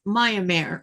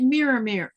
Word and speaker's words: Myanmar: Mirror, is it Myanmar or is it Miramir? Man, I cannot pronounce that word.